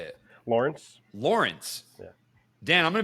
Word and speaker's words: Lorenc: that's that's the standard one okay all right Lawrence okay I everyone in case you're just listening